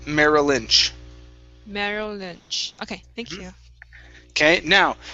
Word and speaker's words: Merrill Lynch: what's the last one merrill lynch so you want to connect the two l sounds merrill lynch okay thank you okay